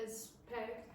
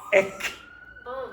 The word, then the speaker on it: expect: Ek. Expect. Ek. Expect. Now, do you hear the problems? Do you hear the problems? I don't mind if you continue do this, but understand that this could cause problems for native speakers.